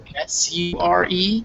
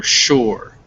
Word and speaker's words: sure: it's important to hear that sure s-u-r-e is still pronounced with a sh sound and um this uh you cannot either pronounce it sure or shore uh both of those work um in english um